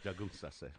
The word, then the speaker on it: Gajunsase: It's Gajunsase. Yeah, we got to get that last syllable in there. Jagunsase.